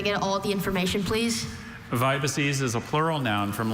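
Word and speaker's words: vibices: Vibaces. Vibaces. Could I get all the information, please? Vibaces is a plural noun from Latin.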